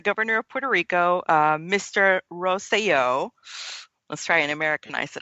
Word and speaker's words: Rosselló: The current governor of Puerto Rico, his name is Ricardo Rosselló, so roll your R's, ladies.